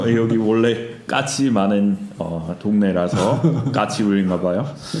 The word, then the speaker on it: 까치울: 외국인한테 발음하기 가장 어려운 지하철역 중 하나. 까치울. 쌍기역이 어렵죠. 네, 기억하고. 그리고 울도 쉽지 않죠.